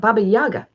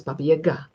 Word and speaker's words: Baba Yaga: Her name is not Baba Yaga. Her name is Baba Yaga.